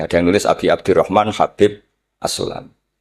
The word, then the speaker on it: Habib: Ada yang nulis Abi Abdurrahman Habib Asulami. Itu di harakatnya kitab itu ada yang nulis khubab. Tapi yang benar Oh, nggih. Yang benar itu bacanya Habib.